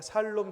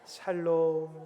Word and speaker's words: 샬롬: 발음을 잘하셔야 됩니다. 살놈 죽을 놈이 아니라. 샬롬.